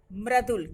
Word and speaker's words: मृदुल: तो यहाँ माँ क्योंकि पाई वाला वर्ण है इसलिए इसके नीचे लगा हुआ है, और इसको हम पढ़ेंगे मृदुल, क्योंकि पदेन्द्र जिस वर्ण में लगता है उसके बाद उच्चारण किया जाता है, ये हमने पहले भी कई बार बताया है।